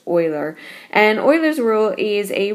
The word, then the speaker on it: Euler: famous mathemati mathematician and I know that word looks like uler but it's actually pronounced Oiler and Oilers rule is